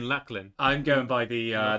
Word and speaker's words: Llachlan: it's yeah so so say that word again padlock okay okay now say my name luck they rhyme yes thank you was he saying Lu you're saying lacklin I'm going by the